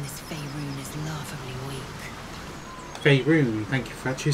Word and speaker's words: Faerun: Faerun, thank you for actually saying it, because I had no idea how to actually pronounce it.